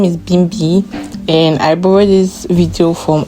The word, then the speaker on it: Bimbia: You see those people came to this meti but now they cannot pronounce the name Bimi. They started calling her Bimia. Bimi was not. No, my name is not Bimia.